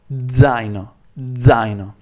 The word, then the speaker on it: zaino: So D and Z have to kind of merge and get together and come out at the same time, and it should pretty much sound like Z, a very over pronounced Z, Z. Zaino.